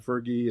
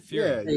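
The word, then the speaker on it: Furie: Frog and everything that's gone on with Matt Fergie and that whole thing. But how did Pepe sort of Fury? How do you pronounce his last name? Fury? Matt Fury.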